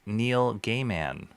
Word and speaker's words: Neil Gaiman: He grew up with a name pronounced Neil Gayman.